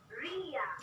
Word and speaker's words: Ria: Unsa man siya pronunciation sa imong name, Dr. Ria or Ria? Ria.